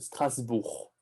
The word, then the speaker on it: Strasbourg: Strasbourg, Lyon, Tu prononces pas le G. C'est Strasbourg. Strasbourg.